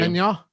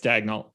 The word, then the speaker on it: Daigneault: You pronounce the LT? It's not silent? You do. Dignac? No, it's Daigneault.